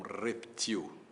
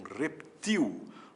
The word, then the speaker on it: reptil: Mas saiba que o jacaré também pode ser um reptil oxítona, reptil acento, portanto reptil como barril, né?